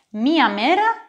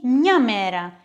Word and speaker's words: μία: Μήπως καταλάβατε ότι λίγο πριν είπα μία και μια? Ναι, το θηλυκό γένος μπορούμε να το προφέρουμε και με τόνο ή χωρίς τόνο. Μία μέρα ή μια μέρα. Μία γυναίκα ή μια γυναίκα, μία φορά ή μια φορά.